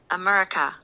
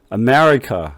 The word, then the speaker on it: America: 근데 여기서 중요한 거 이제 우리가 앞으로 공부하게 될 건데 여기에 액센트가 들어가요. 두 번째에 액센트가 들어가요.